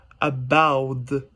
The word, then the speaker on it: about: the t sound but in the south pacific english there's no difference between the t and the d sound so in this context we will pronounce about about so yeah there's the